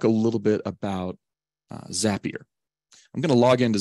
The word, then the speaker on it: Zapier: uh the zapier website zapier see remember it rhymes with happier um and I'm going